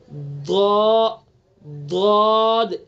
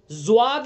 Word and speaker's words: ضاد: کی طرف پہنچے گا۔ ضاد ضاد، صحیح تلفظ یہی ہے اس کا۔ زواد یہ تلفظ نہیں ہے اس کا، زواد، دواد بھی نہیں، زواد بھی نہیں، دواد